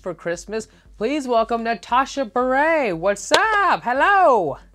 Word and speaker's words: Bure: beret what's up hello I'm so proud of you that you pronounced my name correctly well I mean ahead you be brave right know it is but you had to eat how many people say like you're a burette Wow well you know